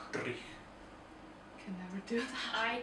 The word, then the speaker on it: dreich: You say dreich. So it's D-R-I-E-C-H, but in the old Scottish language you roll with the R, so it's dreich.